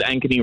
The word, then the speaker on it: Ankeny: I called about a month ago, so you said Ankeny right.